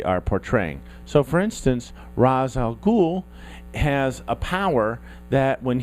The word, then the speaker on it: Ra's al Ghul: eight nine whatever and we always start with Ra's al Ghul yes that is how you pronounce it and Ra's al Ghul is from